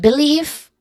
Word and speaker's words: belief: And belief, there's two distinct syllables here, starting with B, which has also a, not also, but it has still a relaxed vowel sound. And then leaf, which has a long E sound.